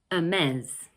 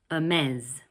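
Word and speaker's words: Hermès: Okay in this next brand we don't pronounce the 'h' at the beginning of the word like in French actually.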